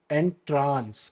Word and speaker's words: entrance: and that is spelled you know that is pronounced as and trance it means to Delight you know to capture